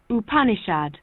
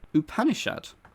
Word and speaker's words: Upanishad: you you punish out don't know how it's said because i've not heard of it it is a series of hindu sacred treaties written in sanskrit and this is how it's said upanishad upanishad new word to me